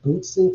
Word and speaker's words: Bootzin: I guess the best way to sort of describe that is there's this technique called the Bootsin technique. I'll spell it Bootzin.